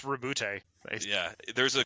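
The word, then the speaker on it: Roboute: I'm going to say very American right there. Rebout Guilliman. It's Rebute.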